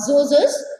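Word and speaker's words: Djoser: okay during the uh zozo's time here d is silent here d becomes silent okay zozo zozo faro so during his time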